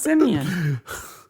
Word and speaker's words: Simeon: No, it's Simeon. Which always makes me think of monkeys.